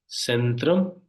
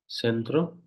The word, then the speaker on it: Centrum: followed by these vels if if it is followed by these five vels then it will pronounce as a say otherwise it can be pronounced as a k also here we have just